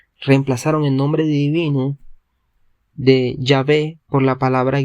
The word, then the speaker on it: Yahvé: Así la palabra Yahvé es la más cercana a la pronunciación original del nombre de Dios. Cabe mencionar que la palabra polaca Jehová es un híbrido que nunca se pronunció.